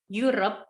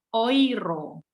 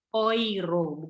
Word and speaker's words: Euro: dia gak orang-orang kaya orang Jerman itu nyebutnya khoiro karena keuh itu bacanya koi Jadi kalau ditanya mata uang Jerman dalam bahasa Jerman adalah Khoiroh bukan Euro sayapun masih salah kadang-kadang